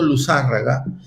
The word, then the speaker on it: Luzárraga: Es palabra esdrújula tildada en la primera A del apellido. O sea que Jorge tiene razón. Yo lo venía pronunciando Luzárraga y no sé por qué ahorita dudé y la hice palabra grave cuando es esdrújula, ¿no?